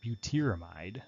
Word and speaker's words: butyramide: We call that butanamide, or in the common naming scheme, remember instead of butan it's butyr, so butyramide is how that would be pronounced.